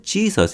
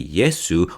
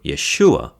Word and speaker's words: Jesus: English speakers mispronounce names even Jesus is a mispronunciation as it should be yesu or Yeshua but enough with the